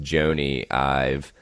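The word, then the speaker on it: Jony Ive: And I believe it's pronounced Joni Ive.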